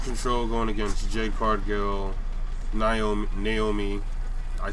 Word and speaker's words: Naomi: Alright, so next match that I'm predicting will be Damage Control going against Jade Cargill, Naomi. I said Naomi. Naomi, correct pronunciation.